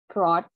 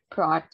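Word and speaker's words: brought: Ada lagi yang termasuk untuk bentuk kayak gini, broad. GH-nya itu tuh dia nggak disebutkan ya teman-teman, karena termasuknya itu tuh silent letter, broad.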